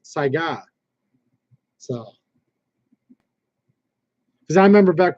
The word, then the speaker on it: Saiga: This is the American, way of pronouncing it. But it's actually Mosin Nagant. Just saying. Just like I'll say Sega when it's Saiga.